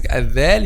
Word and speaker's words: ذال: So th, no vibration, so this one is voiceless, but this one is voiced letter. If you touch this area while pronouncing ذال, you feel a vibration. So this is the difference between letter th and letter ذال. just the vibration of the vocal cords.